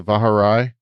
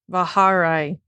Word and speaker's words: Vaharai: uh gone through the vaharai i guess bahare i will keep saying it wrong okay i'll probably keep correcting you not intentionally but fahraya okay emphasis on the second syllable anyway all right anyway